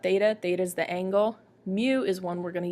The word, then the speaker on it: mu: That letter is a Greek letter, and it's pronounced mu. It's pronounced like if you'd spell it, it'd be M-E-W, but it's pronounced mu, and it is